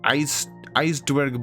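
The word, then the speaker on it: ijsdwerg: The J in Dutch, IJ, is kind of silent, so it's pronounced like I is an ice. So it's just like ice dwerg bulbarb.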